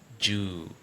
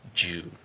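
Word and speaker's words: joule: You pronounce it Yeah, it sounds ooh just like you say book. Yes. Jewel Yes, it's jewel.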